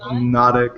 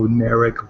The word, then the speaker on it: Nodic: It's Nodic. It's a soft rolling R, and if you can't pronounce it, just go Neric, but it's a little generic, so I prefer my actual pronunciation.